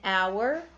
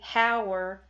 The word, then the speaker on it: hour: H says high but there are other times when the H is silent and when H is silent you use an an hour and honor an honest